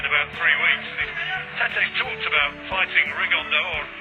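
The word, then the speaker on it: Rigondeaux: Tete's talked about fighting Rigondo, or as he's correctly pronounced with the Spanish accent, Rigondao.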